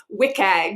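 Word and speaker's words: WCAG: So when you see that WC Abbreviation, WIKAG is like the cool in then way to pronounce that.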